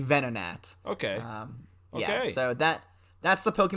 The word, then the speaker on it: Venonat: well, no, the proper term is actually Venonat.